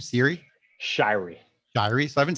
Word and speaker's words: Shiery: spelled Shi ery which is not how you pronounce Shirey so it's an old family split along the